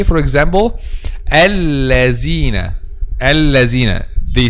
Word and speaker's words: الذين: instead of الذين, but the correct pronunciation is الذين. So how to make this? Just to make the tip of the tongue touch the edge of upper two front incisors.